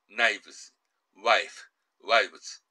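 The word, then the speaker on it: knives: S をつけますで発音はブスとなりますナイフナイブスリーフリーブスのようになります続いてこちらは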